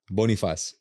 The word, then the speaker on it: Bonifaz: Bonifaz.